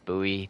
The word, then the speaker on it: Bowie: a buoy knife knife it's spelled Bowie like b o w i e but his name was actually pronounced buoy Jim buy and uh